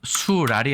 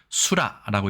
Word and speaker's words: 水剌: 단어에 대해서 알아보겠습니다 도금은 일단 스랄이 아니고요 우리나라에선 수라고 읽습니다 지난번 오늘의 한자 376번